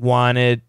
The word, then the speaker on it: wanted: perfect pronunciation wanted wanted get rid of the T wanted wanted we still have two syllables right just because we